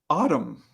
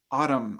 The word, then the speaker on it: autumn: is silent for knife autumn autumn autumn is another word for the fall season autumn at the end that n is silent right we don't say